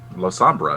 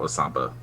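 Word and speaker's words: Lasombra: La Sombra, not La Samba.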